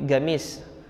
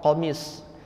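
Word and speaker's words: قميص: Jadi logat sebagian dari masyarakat Yaman, pengucapan qafnya itu agak ke arah G gitu. Jadi gamis. Maknanya pelafalannya itu sejatinya hurufnya adalah qaf, qamis.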